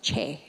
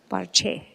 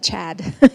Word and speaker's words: chad: It's not pronounced Chad, it's pronounced Che, Bar Che. So whenever you see Chhad, you can pronounce it Che.